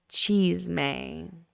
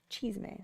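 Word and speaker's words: chisme: And Miss Ashley, yes, you pronounced it correctly. Haha. Cheese-may. Cheese-may. So that's how I say it.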